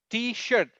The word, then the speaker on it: T-shirt: There are very nice like t-shirt. Remember pronunciation is shirt, t-shirt. Otherwise you would say teacher. t-shirt, And it's not teacher, it's T-shirt. t-shirt. t-shirt, T-shirt, t-shirt, not teacher.